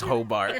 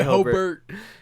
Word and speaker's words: Hobart: here because she says Hobart. I'm like, nah, say Hobart. It's ERT.